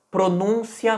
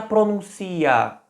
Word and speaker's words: pronúncia: Será que eu falaria com a ênfase um pouco antes? Pronúncia, denúncia, crítica? Ou eu falaria a palavra com a ênfase mais no final?